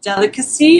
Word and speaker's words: Delicaxi: So my Instagram is Delicacy, but it's spelled very different. It's more spelled like Delicaxi. So Delicaxi.